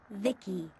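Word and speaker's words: VICI: transistors by the way I'm VI i c i pronounced Vicki my Creator was BB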